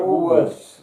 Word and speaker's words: Woolworths: You keep saying like Woolwood, you say it like Woolworths.